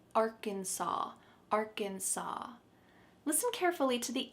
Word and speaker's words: Arkansas: There is an S at the end, but we pronounce it Arkansas.